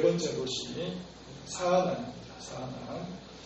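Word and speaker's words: צאנן: 사아난. 제 보면은 그 히브리 원어로 자아난이라고 이렇게 발음이 되어지는데 유사한 발음이 있습니다.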